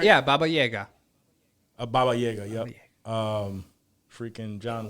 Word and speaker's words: Baba Yaga: Yeah, Baba Yaga.